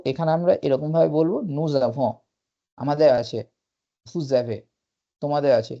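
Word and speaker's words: nous avons: উচ্চারণ সময় এস টা উচ্চারণ হয় না যখন নু জ্যাভ উচ্চারণ করি তখনই এস এর স এর প্রভাবটা এভোর সঙ্গে জুড়ে যায় তো এটাকে আমরা বলি ফরাসি ভাষায় লিয়াজো প্রোনাউন্সিয়েশনের লিয়াজো তো এখানে আমরা এরকম ভাবে বলবো নুজাভ আমাদের আছে ফুজাভে তোমাদের আছে লিয়াজো এখানেও কিন্তু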